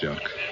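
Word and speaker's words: Jacques: sailing up to St Lawrence in 1537 yes jacqu Jac I like the pronunciation Jac is the way it's pronounced but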